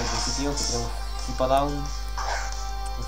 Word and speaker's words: Hippowdon: Como bien lo he dicho al principio, que tiene un Hippodown, un Hippowdon, es así como se pronuncia, que tiene chorra de edad.